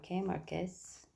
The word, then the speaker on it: Marquez: Marquez. In the Philippines, we pronounce the Z.